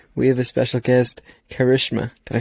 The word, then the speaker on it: Karishma: episode and today we have a special guest karishma can i say it correctly got it on